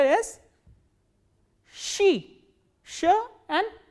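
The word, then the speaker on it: щи: The words that we are going to learn from this letter is she, sh and e, she.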